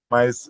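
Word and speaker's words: 妈: São duas palavras com a mesma sílaba, mesma consoante e vogal, mas eu estou falando ela em entonação diferente. Quando eu falo ma, está em primeiro tom e significa mãe.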